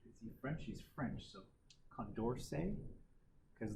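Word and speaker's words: Condorcet: get Nicolas that's cool Condor said that we've conduce it he's a friend she's French so Condor say because just like Chevrolet you don't pronounce the T at the end right is a French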